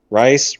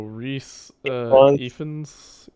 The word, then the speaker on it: Rhys: has uh wrist uh how do you pronounce the thing rice wris oh reese fans i don't know yeah he's welsh it's rhys okay i would know